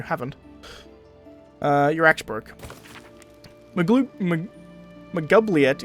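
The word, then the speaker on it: Maglubiyet: uh your axe broke magloop mcgovliet is how they pronounce it in this game i always thought it was magoobliet but i could be wrong your axe got broke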